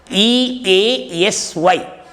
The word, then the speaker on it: easy: E-A-S-Y. Please note that the S in the word easy is pronounced as Z.